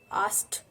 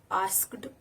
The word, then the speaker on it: asked: Asked. It's not asked or asked. It's asked. It's the past form of word ask.